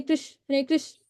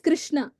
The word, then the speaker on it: Krishna: And then pronounce each name distinctly. Okay, do not chant Hare Krish, not Krish. It's Krishna.